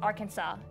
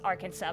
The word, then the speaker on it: Arkansas: Yes, it's Arkansas, not Arkansas, though it's pronounced Arkansas, but it's written with an S at the end.